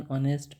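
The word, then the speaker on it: honest: एन ऑनेस्ट मैन। यहां तो हमने कर ही लिया था। इसमें एच साइलेंट है तो क्या हो जाएगा? एन ऑनेस्ट मैन।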